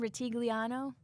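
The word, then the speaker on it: Rutigliano: a coaching change um let's see 1984 Sam rigliano is that how you say it yes yes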